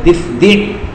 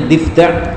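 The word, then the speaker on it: ضفدع: Naha, Nabi melarang an qatlid difdi'. Orang-orang sering membacanya difda', tapi lebih afdalnya dibaca difdi'.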